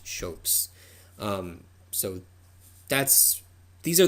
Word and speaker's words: scop: poets were known as shopes that's how that word is pronounced um it's not scops it's shopes um so that's these